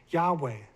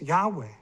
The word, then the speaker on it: Yahweh: Greek transcriptions also indicated that YHWH should be pronounced Yahweh. So there it is, based on the Greek, based on documents 1,800 years ago, they're saying it's Yahweh.